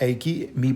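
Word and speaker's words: AIKEYME: मैं इसको प्रोनाउंस नहीं कर पाऊंगा लेकिन आप ऐकीमी बोल सकते हैं।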